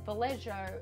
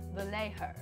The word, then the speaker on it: Vallejo: I use the Vallejo brand, and thank you, Patrick, for correcting me on my very ochre Australian pronunciation when I said Vallejo instead of Vallejo.